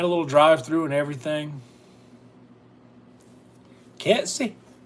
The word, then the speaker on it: Kelsey: Kelsey. Most people back home pronounced it Kelt-C. K-E-L, like K-E-L-T C or S-E-Y. Kelsey. Kelt. They put a T in it.